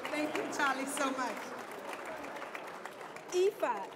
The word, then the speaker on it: Aoife: AF Griffin. Griffin. Aoife.